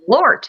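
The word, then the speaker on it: Malört: How do you spell that? I want to look it up. Malort, yes.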